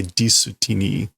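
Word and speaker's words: デスティニー: this last time, but Destiny is a really strange way to pronounce destiny. Because, yeah, I mean, normally you could just say it as destiny. So I don't know why Desutini. Why the very specific T and D.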